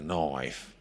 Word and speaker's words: knife: Knife. That's how you say it. Say knife. Knife. Yeah. I'm pretty spot on. Knife. Because you were giving it a bit too much oi earlier. So just a little bit less oi.